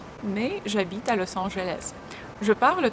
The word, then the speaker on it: à: À tous. À tous. When you pronounce the A sound, you breathe out and you actually can see your tongue laying on your lower teeth.